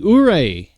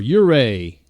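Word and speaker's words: Ouray: Christmas parade let's see uray or uray however you want to pronounce it um has another another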